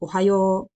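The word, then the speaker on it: おはよう: and uh you'd say ohayou and this little kind of thing i'm putting on the o is actually indicating that it's a long o uh so it's oh you're it's not oh it's oh right and so oh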